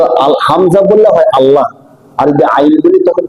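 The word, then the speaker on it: الله: তো আল হামজা বললে হয় আল্লাহ। আর যদি আইন বলি তখন কি হয়? তখন আল্লাহ বা অন্য একটা শব্দ হয় যার অর্থ উপরে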